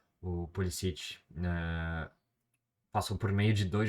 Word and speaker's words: Pulisic: Imigrantes croatas, mas ele já disse em entrevista que uh, prefere ser chamado de Pulisic, né? Sem a pronúncia croata, né? Que é como os outros americanos também o chamam, assim, enfim.